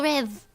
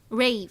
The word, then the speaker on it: rêve: Sweet dreams would be fait de beaux rêves. Rêve? Rave. No, rêve.